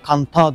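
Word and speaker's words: Cần Thơ: Cantao diye yazılıyor. Kantao diye okunuyor.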